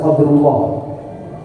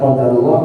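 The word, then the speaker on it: قدر الله: berarti maknanya takdir Allah tidak boleh dibaca qadrullah kalau itu jadinya kemuliaan Allah pad kita sedang menyampaikan tentang takdir Allah Taala maka bacanya qadarullah bukan qadrullah Oleh karena itu Lailatul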